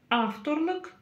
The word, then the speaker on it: авторлық: Как прочитать окончание лық? Но все очень просто. Буква «ы» читается коротко. Как прочитать букву «к» с хвостиком? Нужно просто откашляться или отхаркнуться через букву «к» обыкновенную. Лық, лық, лық.